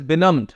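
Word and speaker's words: benumb: है चली नेक्स्ट व बनम बनम वर्ड में ही नम छुपा हुआ है नम बी साइलेंट होता है इसका मतलब होता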